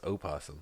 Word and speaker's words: opossum: I think it's called I think it's pronounced opossum you don't correct me something